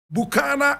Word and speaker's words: Bukana: Ajax bukhana ayax bukhana Ajax pronounced ayaks bukana is b-u-k-a-n-a today I have the